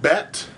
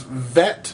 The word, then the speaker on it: bet: uh it's called bet the one with the dot if you can see here it's got a dot in the middle of it is called bet bet uh and then the one without the dot here is vet V uh their B's are actually they have a v sound as well uh so it can be B or vet um it just depends on this little that little dot right